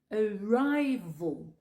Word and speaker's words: arrival: Arrival. Tu prononces le premier A comme si c'était un E et tu prononces le deuxième A comme si c'était un O.